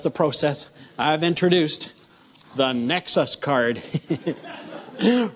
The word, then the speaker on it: Nexus: process I've introduced the Nexus card rhymes with Texas except and it's spelled